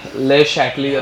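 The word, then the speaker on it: Le Chatelier: इसका pronunciation actually ले शैटलियर होता है, हाँ ऐसे शैटलियर, ठीक है। या इतना फैंसी इंग्लिश मारने की झाड़ने की जरूरत नहीं है, ठीक है। ली-चाटलियस प्रिंसिपल, हाँ जैसे शैंडलियर रहता है, शैंडलियर वाला, हाँ वैसा है वो।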